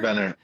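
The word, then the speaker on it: Vänner: I'm going to try to pronounce this right. Uh in Sweden called PM uh is it Vetner or Vener? Vener PM Vener.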